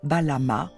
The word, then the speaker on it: Balam: Il pouvait aussi choisir d'écrire le mot phonétiquement en alignant une variété de signes phonétiques signifiant tous Balama, qui se lit Balam.